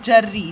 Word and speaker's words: جری: جری، جیم کے اوپر زبر، را کے اوپر شد، را کے نیچے زیر اور چھوٹیے، بے کے